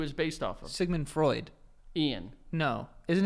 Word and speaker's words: Freudian: you say that Freudian Freudian yes I thought it was fraudulent no Freudian Freudian that's fraudulent it's close it's a very close Freudian Sigmund Freudian that's who is based off of Sigmund Freud Ian no is the name